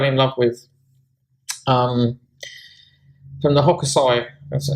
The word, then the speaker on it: Hokusai: And she also sent me this gorgeous lunar card, which I fell in love with, from the Hokusai, that's how you say it, the guy who did the famous wave painting, tarot.